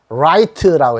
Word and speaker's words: right: R 리을에다가 요거 I자 소리 납니다. I에다가 GH는 요거는 소리가 안 납니다.